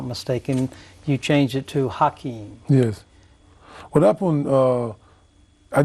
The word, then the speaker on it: Hakeem: you changed it to hakeim yes what happened uh I didn't really change it the the cor correct pronunciation okay that was the correct pronunciation is with h okay okay and then